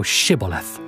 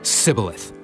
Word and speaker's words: Shibboleth: Then said they unto him, Say now Shibboleth. And he said, Sibboleth. For he could not frame to pronounce it right.